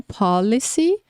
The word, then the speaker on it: policy: Então, policy, police. Policy, police. A palavra que está no começo, pronuncia mais forte no começo.